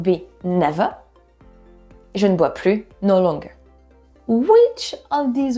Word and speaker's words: plus: No longer or not anymore will be plus, and you don't pronounce the S.